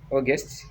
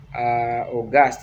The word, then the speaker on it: August: Yeah, it is August, August. We don't say August, no, August.